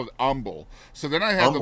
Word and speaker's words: Humble: Well, So, shoot, you grew up in humble. Most people would call that humble. yeah. Well, the H is silent.